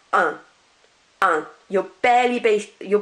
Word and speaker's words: un: the time the UN which is masculine is pronounced on um you're barely base you're barely pronouncing that